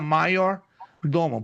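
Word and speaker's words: maiordomus: Se escreve major doma, mas se pronuncia maior doman, porque o J no latim eh tem a pronúncia de um I, tá? Porque no latim se usa a letra J como um I.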